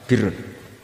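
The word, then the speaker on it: بِرّ: Ya kalau di isim fa'ilnya umumnya guru-guru kita baca barin, tapi untuk masdarnya, untuk kebaikan bacanya apa? Birun. Nanti kamu protes, oh barun itu daratan Gus, kalau birun itu kebaikan.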